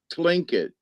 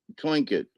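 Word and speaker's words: Tlingit: And you know, having having known someone the legend keeper from the uh it's pronounced Clinket, T L I N Clinket.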